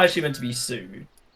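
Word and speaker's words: Siu: Is in when Ronaldo when people intend to say it properly, it's Sue, not Sui.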